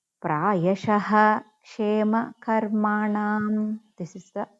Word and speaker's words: प्रायशः: So if ksha before visargam is there, means that visargam we have to pronounce complete ha. So fourth padam prayashah kshema karmanam is there. So ksha kshe, so kshe before visargam is there, so we have to say complete ha.